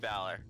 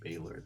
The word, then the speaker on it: Balor: AJ Bauer. Oh, because I've been pronouncing it like in my head AJ Baylor this entire time. Yeah, Baylor is the actual NBA player and Balor is the Irish professional wrestler.